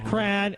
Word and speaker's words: Quran: I will read the Quran. Is that how you say it?